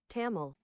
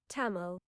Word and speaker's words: Tamil: Tamil is that Tamil how do you pronounce that I think it's Tamil look it up how to pronounce Tamil this is what we're doing today tamel well I was totally off Bas damel wait hold on it says wait British pronunciation taml it's taml it's taml God damn